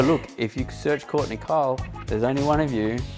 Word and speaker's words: Keil: search Courtney Keil online, and that's Keil. Yes, it's a doozy. Because I know, I was like, that doesn't pronounce how Nope, it doesn't. It's German. It's old school German.